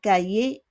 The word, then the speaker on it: cahier: She écrit is to write dans son cahier, in her cahier. Cahier is notebook. We don't pronounce the H. Cahier.